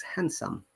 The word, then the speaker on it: handsome: right so remember that in handsome there is no d sound this is handsome okay so let's move